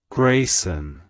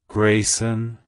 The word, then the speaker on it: Graysen: Canada it's pronounced as Grayson Grayson Grayson to pronounce it correctly emphasize the first syllable gray and the S at the end avoid blending the two syllables together like hello Grayson goodbye